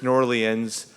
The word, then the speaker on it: New Orleans: New Orleans but now I learned from the mayor that it's nor Lien's so there's a whole